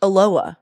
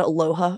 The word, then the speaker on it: Aloha: morning Aloha is pronounced Aloha no h sound did you guys know this it's Aloha Oregon not Aloha Oregon no I did